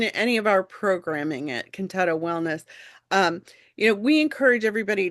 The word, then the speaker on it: Contatto: Contatto. Contatto, there we go. Potato, contatto. Contatto.